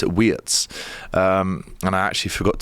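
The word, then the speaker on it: Wirtz: you know, we've seen with Florian Wetsz, uh, which is actually the the correct way to pronounce it. I was in Holland at the weekend and some German lads told me it's Wetsz.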